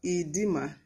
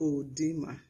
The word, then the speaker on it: edema: spelling does not change we have edema edema not oedema edema we have esophagus